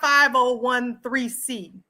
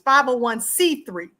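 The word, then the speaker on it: 501(c)(3): Most likely it's not 5013C for people who keep saying it wrong. It's 501c3.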